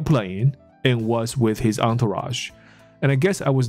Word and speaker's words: entourage: 那时候 Iverson 呢是跟他的 entourage 在一起，所以这个字的发音。不是什么 entourage，因为它长得很像 encourage，有没有？就鼓励那个字，可是不是，它不是什么 entourage，它的发音是 entourage， entourage。那它的意思呢，就是你身边常常在你身边一起混来混去的一些人。那甚至我们可以把它翻译成随扈或之类的，叫做 entourage。有那种很重要的人，有没有？走到哪里身边都是一堆人，有没有？我们就说那样的，像我们说打拳击的那一个 Floyd Mayweather，那或者是。一时也想不起来谁其他人，但总之很多一些大牌明星啊，哦，请一些保镖在身边或这些的 entourage。OK，所以他当时还在打球，那他有他的 entourage 在身边，所以那个人当然就吓到了，干我要一次跟这么多人干架哦，right？